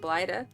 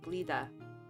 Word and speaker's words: Blida: What we're gonna do real quick now is we're gonna go to Blida.